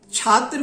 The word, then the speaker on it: छात्र: अब इसका उच्चारण कुछ क्षेत्रों में छ से हो रहा है। क्षेत्र को वो क्षेत्र कह देते हैं, ये दोष है। और फिर अति सतर्कता से छात्र को भी क्षात्र कह देते हैं, छत्री को क्षत्रि, क्षत्रिय